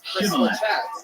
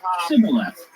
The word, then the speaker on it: shibboleth: When he said no, they said to him, "Then say Shibboleth." And he said, "Sibboleth." But he could not pronounce it right.